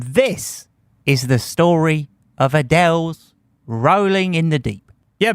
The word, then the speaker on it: Adele: And before you think I said her name wrong, that is how Adele pronounces Adele.